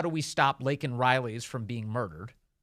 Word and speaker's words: Laken Riley: Say her name, Laken Riley. He said, I can say her name. Her name's Lincoln Riley.